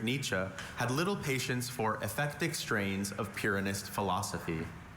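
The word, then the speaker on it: ephectic: German philosopher Friedrich Nichze had little patience for effectic strains of pyist philosophy can you repeat the pronunciations effectic also effectic think it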